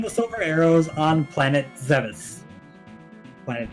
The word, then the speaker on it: Zebes: Did you find the silver arrows on planet Zevis? Planet Zebes? Planet Zebes? There are so many ways to pronounce that. And I know there are people who get upset if you say it the non-canonical way.